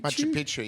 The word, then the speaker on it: Machu Picchu: I might butcher the pronunciation. Is it Machu Picchu? Machu Picchu, yeah.